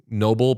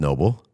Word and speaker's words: NoBull: I think it's like pronounced NoBull. Oh, is Is right? I think so, yeah. Noble, but it's spelled like no BS.